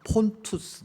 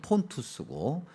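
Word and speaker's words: Pontus: 특별히 오늘 그 절에 언급되어 있는 지명 중에서 본도 뭐 폰투스 그렇게 발음하기도 하고요 그다음에 비두니아 아 그렇게 발음하기도 하는게 아니라 원래 발음이 폰투스 그다음에 비두니아 우리 한글 성경에 기록되 있는 건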